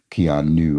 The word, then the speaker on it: Keanu: extraordinary extraordinary picture uh the last sound in Keanu G is a long u right okay of course because we're saying Kean new as you know supposed to uh all right word